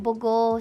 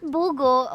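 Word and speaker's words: Bogo: That's in Boo City. Not Bulgo. Okay. It's the same spelling but the pronunciation is different.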